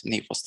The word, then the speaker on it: NI4OS: We pronounce it NI4OS, since NI4OS translated into Greek means cloud.